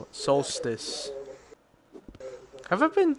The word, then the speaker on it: solstice: During the winter that's how you spell it. Solstice. Have I been saying solostice, even though it's solstice?